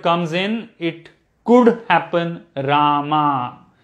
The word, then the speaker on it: Rama: you pronounce this again there are two sounds so the long a in the second place short a in the fourth place ra ma not rama okay rama will happen